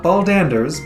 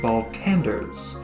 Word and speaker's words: Baltanders: sword of baltanders and oh not baldanders baltanders joining him on this